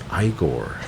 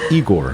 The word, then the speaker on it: Igor: I am and then it's like oh it's igore thought always thought thought it was eigor right and then I